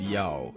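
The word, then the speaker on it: 幺: So saying Yao just seems a bit more convenient. Yes, and that pronunciation can only be used when the number yi is solely presented.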